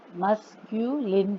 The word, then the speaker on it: masculine: इनके नाम नोट कर लीजिए: मस्कुलाइन gender, feminine gender, common gender and neuter gender. इनको पढ़ना भी सीख लीजिए अच्छे से, इनके स्पेलिंग्स को याद कर लीजिए. मस्क्यूलिन gender, मस्क्यूलिन, मस्क्यूलिन 3 syllables हैं.